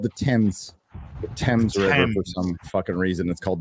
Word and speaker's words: Thames: uh it's called the tens the Thames for some reason it's called the Thames even though it's spelled Thames I don't know London